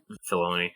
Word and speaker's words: Filoni: I was you mentioned Will, Dave Filoni or Fioni, however you pronounce him. Filoni.